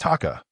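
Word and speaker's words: 鷹: In Japanese, hawk is pronounced taka while eagle is pronounced washi.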